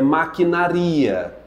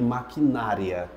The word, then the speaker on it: maquinaria: ó vai ibero é maquinaria nada de maquinária maquinária Normandia Normandia normia